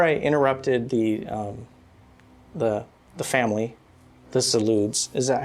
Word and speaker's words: Zalud: Before I interrupted the family, the Zaluds, is that how you say it?